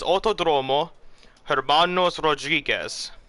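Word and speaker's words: Autódromo Hermanos Rodríguez: that uh you pronoun this is how you pronounce it is autodrome is autodromo herbanos rodriguez and that's where we are here tonight but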